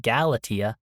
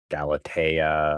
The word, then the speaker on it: Galatea: So, I'm probably going to Galatea. Galatia. Galatia. Just end it with Tia.